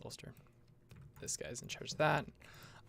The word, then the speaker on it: Ulster: in charge of ulster i think i'm pronouncing that around ulcer ulster ulster yeah it's ulster this guy's in charge